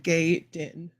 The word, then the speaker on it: Gaiden: Yes, that's the name. That's how you say it. Not a lot of pictures. Just this one crouching pose coming soon. But I think that's a cool figure. Ninja Gaiden.